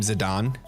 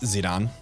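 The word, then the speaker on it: Zidane: to pronounce his name zidon like the like the soccer player cuz the whole like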